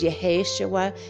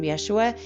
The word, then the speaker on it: Yeshua: yahaya used to call i used to say his name was yeheshawa because that's how i've always said it and then i realized that everyone's calling him yeshua and when i left